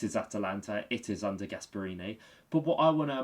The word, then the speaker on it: Gasperini: And obviously, what how do you pronounce his name? Gasparini. Gasperini.